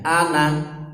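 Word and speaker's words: أنا: Bulatan itu menunjukkan bahwa itu alifnya tidak dibaca. Ya, jadi pendek bacanya. Ana, gitu ya. Sebenarnya meskipun tidak ada tanda lingkaran bulat di atasnya, ana tetap dibaca pendek.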